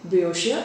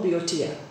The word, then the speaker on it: Boeotia: Now, he is instructed to call the reason Boeotia or Boeotia, right? So this name Boeotia has is an actual place in Greece, and it sounds like the word for cows, which is bos.